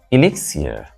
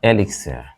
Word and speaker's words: elixir: get the rest straight this Elixir not Elixir El s Elixir it's a chemical